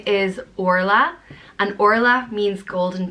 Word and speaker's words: Orla: the next name is Orla an or laughs means golden princess it's pronounced or la Orla there's a lot of different